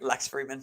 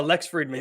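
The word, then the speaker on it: Lex Fridman: Lex Freeman. Whatever. Oh, Lex Friedman.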